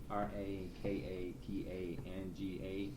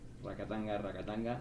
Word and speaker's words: Rakatanga: Rakatanga. Yeah. Rakatanga. It's a mouthful. Yeah, it's a mouthful. Gotta learn to roll your R's there. So yeah, we got a bunch of stuff.